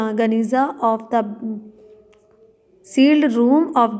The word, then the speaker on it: Geniza: In 1896 a huge collection of medieval Jewish document was discovered in a sealed room, Geniza, pronounced Geniza, of the sealed room of the Ben Ezra synagogue in Fustat।